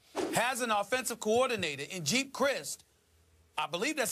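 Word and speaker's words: Geep Chryst: But Colin Kaepernick, the quarterback, has an offensive coordinator in Jeep Christ. I believe that's how you pronounce his name. Right. It's G-E-E-P, Yep. Jeep Christ.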